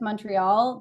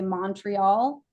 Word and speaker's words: Montreal: Same actually with Montreal. That's a giveaway too. If you say Montreal, you're not local. Okay. So MUN, Montreal. There were other giveaways for people that I wasn't from Montreal when I was there.